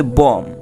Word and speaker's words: bomb: যেমন দেখো BOMB উচ্চারণ হচ্ছে বম অর্থ বোমা।